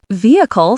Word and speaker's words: vehicle: Vehicle stresses the first syllable, vehicle.